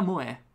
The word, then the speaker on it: moe: Pronunciata Moe.